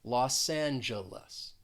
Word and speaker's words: Los Angeles: city of angels and again in that second word the first syllable is stressed the g is going to sound more like a j and the second and third syllable have that uh that schwa sound los angeles los angeles